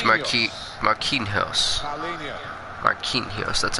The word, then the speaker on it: Marquinhos: Marquinhos, that's how you say it.